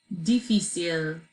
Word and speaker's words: difícil: Difícil. Difícil. Good, difícil, perfect. There's an accent on the I there.